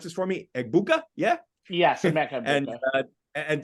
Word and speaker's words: Egbuka: Rabbi, pronounce this for me. Egbuka?